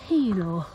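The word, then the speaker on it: Healaugh: on a way to, apparently it's pronounced Helor, but it's spelt off anyway. But it's Helor apparently.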